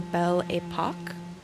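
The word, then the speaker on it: Belle Époque: on Steam they mentioned the Bell Apoch that's how you pronounce it.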